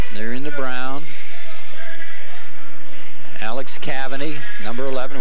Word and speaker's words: Cavani: Alex Cavani, number 11. We did get the correct pronunciation. It is Cavani.